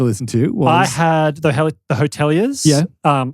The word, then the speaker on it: The Hotelier: I had the Hoteliers. Yeah. Home. Hoteliers.